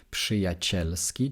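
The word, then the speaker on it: przyjacielski: але є таке правило що після літер п к і т рз читається як ш тому що ви просто після п літерку ж не зможете в слові вимовити тому відповідно пшиячельски читається через Ш але пишеться через срз це такий виняток Можливо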